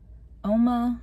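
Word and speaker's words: UOMA: I am wearing the Oma, I think that's how you pronounce it, U-O-M-A, Oma Beauty Foundation.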